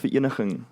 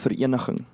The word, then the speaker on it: Vereniging: So, in 1902, the Treaty of Vereniging ends the Second Anglo-Boer War, and then only in, I think it's in the 1960s, we only get independence, man, Okay.